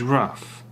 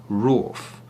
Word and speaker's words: wrath: The noun is wrath, or the very formal and perhaps even aristocratic British rawth, which I don't think anyone would use.